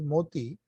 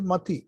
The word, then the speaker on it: Mati Seal: They pronounce it as Moti, but actually it is Mati.